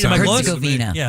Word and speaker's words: Herzegovina: Is that how you pronounce that? Sure. Is that right? Am I close? Herzegovina. Yeah, Herzegovina.